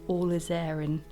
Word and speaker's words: Alizarin: that some of you pick me up on that and say it's Alizarin. I'm afraid I'm never going to remember that, so you're just going to have to put up with me saying it wrong.